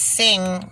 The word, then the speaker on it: Singh: called him ravi and it's sing but it has an h a silent h on the end one year in prison